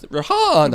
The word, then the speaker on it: Rihanna: I think it's pronounced Rihanna. I think you might be exactly on them. Did you just touch him with it? Is that why he made that noise? Can you say No, it's Rihanna.